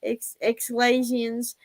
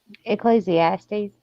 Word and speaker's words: Ecclesiastes: Exlasians or something like that. 3. Escalations or something like that. Ecclesiastes.